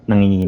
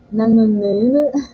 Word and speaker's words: nanginginig: you would know that at the beginning, NG it's sound is the very hard. nga sound at the beginning. Yeah, it's Yeah, tough. no, Nanginginig.